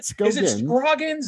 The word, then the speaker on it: Scoggins: How do It says here Skoggins. Is that Am I pronouncing it right? Skoggins.